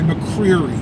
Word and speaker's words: McCreery: Howard m c e r e r y McCreery it's pronounced c r e r e y uh